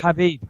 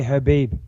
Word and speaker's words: Khabib: Khabib, I think you actually say Habib.